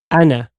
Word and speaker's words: أنا: أما أنا. Everyone knows that أنا is not pronounced with the alif, yeah? It's pronounced like this. Does everyone know that? نعم. You don't pronounce the alif when you pronounce it.